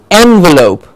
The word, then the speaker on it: envelope: mean envelope and envelop same word same spellings but a different stress changes the meaning of the word now an envelope is